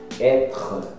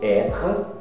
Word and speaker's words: être: Être, esse être, você fala como se fosse é mesmo, être, e para no être, não pronuncia o e.